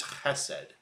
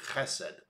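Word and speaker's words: חסד: Hebrew word there is chesed. Often, if you spell it in English, it would be H-E-S-E-D, chesed. You gotta go the ch at the beginning of it, chesed.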